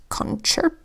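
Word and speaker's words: concerto: here's another one where the second C in this word makes the CH sound this word is concert doh another exception and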